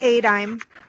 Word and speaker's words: ADIME: the, do I say, Annie, how did you pronounce it, Adamy? Something like that. Yeah. It's ADIME.